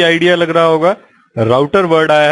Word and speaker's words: router: और जैसे कि आपको नाम से भी आइडिया लग रहा होगा, राउटर वर्ड आया है वर्ड राउट से, जिसको हम रूट भी बोलते हैं और कुछ लोग इसे रूटर भी प्रोनाउंस करते हैं।